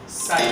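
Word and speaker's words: psi: और ये जो हमारे पास सेकंड साइन है इस तरह का, दैट्स कॉल्ड साइन। इसमें पी साइलेंट होता है। ठीक है, साइन।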